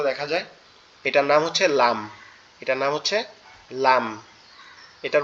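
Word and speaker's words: لام: যায় এটার নাম হচ্ছে লাম এটার নাম হচ্ছে লাম এটার উচ্চারণটা খুবই সোজা জিহ্বার আগা উপরের তালুর সাথে লাগবে জিহ্বার আগা উপরের তালুর সাথে লাগবে সিম্পল ভাবে উচ্চারিত হবে লাম লাম লাম একটা আপনি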